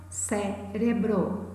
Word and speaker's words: cérebro: Bárbara, árvore, cérebro. Todas essas três, observem, elas possuem a antepenúltima sílaba tônica, ou seja, elas são palavras proparoxítonas, ok?